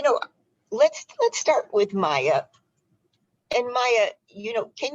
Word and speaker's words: Meiya: that piece hi um actually my name is pronounced maya like okay but um that piece is me